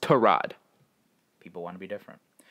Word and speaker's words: Tyrod: quarterback his name is spelled Tyrod but it's pronounced to rod people want to be different yeah okay now